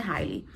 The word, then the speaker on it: Hailey: Escreve com I, mas a pronúncia é Hailey.